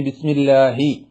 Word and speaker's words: بسم الله: സാവധാനത്തിൽ ഓതുന്ന ആളുകൾ ഇനി ബിസ്മില്ലാഹി എന്ന് പറയുന്ന ഹ വളരെയധികം സൂക്ഷിച്ച് സുന്ദരമായി പറയണം ഹിന്റെ ഉച്ചാരണം എങ്ങനെ എപ്പോഴാണ് ശരിയാവുക ബിസ്മില്ലാഹി ഹി ഹി എന്ന് തൊണ്ടയുടെ താഴെയറ്റത്തുനിന്ന് കാറ്റോടുകൂടി പറയുമ്പോഴാണ് ഹാ ഹി എന്ന ശബ്ദം ആവുക അല്ലേ അപ്പൊ ബിസ്മില്ലാഹി ബിസ്മില്ലാഹി സുബ്ഹാനള്ളാഹി